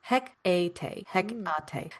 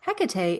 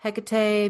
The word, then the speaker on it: Hecate: in productions of McBth has traditionally been pronounced as he a hecate a holdover from Elizabeth and theater to a mainstream audience in the '9s. That mispronunciation already sounded witchy, stagy, and familiar.